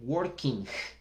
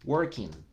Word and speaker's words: working: Entonces la gente dice working o studying. No, no es necesario. Hasta la N la pronunciación es correcta. Entonces miremos un ejemplo. Trabajando en inglés. Working. Working. El sonido es nasal al final.